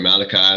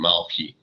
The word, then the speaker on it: Malachi: prophets now you know a lot of people say malachi or something involved you know that's what we know the hebrew pronunciation malki which means my messenger